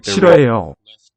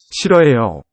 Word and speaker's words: 싫어해요: So a nice silent H here in that initial syllable. It's got nice 4-part structure. One for each corner. And they're 싫어해요. 싫어해요. SILH, roughly. L will 싫어해요. as more of an R, between vowels.